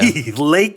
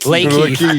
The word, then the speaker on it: Lakeith: Lakey. Lakeith. It's a classic Cody Cannon pronunciation right there.